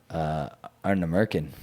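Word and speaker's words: Ardnamurchan: gonna say Arna Merkin. I will never say that distillery's name because I don't even know how to pronounce That it.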